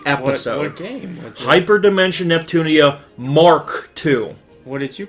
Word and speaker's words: Mk2: what it was called the MK stands for Mark like uh like when you have a a plane or something like Mar K right it say MK it does say MK but I was pronouncing an MK and it's actually Mark Mark 2 when did you realize